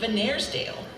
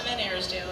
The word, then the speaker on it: Van Arsdale: last name, is Venersdale. She got that right. That doesn't usually happen, but it is phonetic. So my name is Van Arsdale, as she said, and